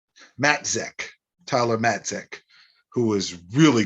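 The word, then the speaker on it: Matzek: fantastic mentor jackson uh matex let me pronounce this right matt zech tyler matic who was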